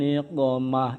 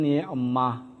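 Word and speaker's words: نقمة: Ilahi salimil ummah minal afati wan niqmah. Itu yang betul. Tapi ada yang bacanya Ilahi salimil ummah minal afati wan ni'mah. Berarti selamatkanlah umat dari nikmat.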